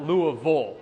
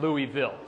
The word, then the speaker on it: Louisville: I went to dental school at University of Louisville, or Louisville as outsiders call it. If you go to Louisville, you'll quickly learn they pronounce it Louisville, not Louisville. So if you ever go to Louisville, pronounce Louisville and you'll sound like a local.